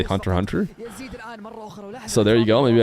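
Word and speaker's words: Hunter × Hunter: know about anime cuz I didn't say hun ex Hunter even though that's how I used to say it but apparently you can't that's not how you say it you just say hunter hunter so there you go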